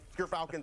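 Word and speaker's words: Gyrfalcon's: But Gerfalcons, everyone, so anyone who mispronounces it, that's how you say it.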